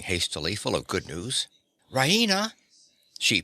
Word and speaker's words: Raina: full of good news rahina she pronounces it Raina with the stress on the E Reina she goes to the